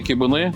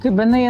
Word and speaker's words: кибини: Іноді кибини називають, наголошують ще кибини, але ми консультувалися з перекладачем з караїмської і він порадив наголошувати на останньому и, тому що у караїмській мові наголос традиційно падає на останній склад.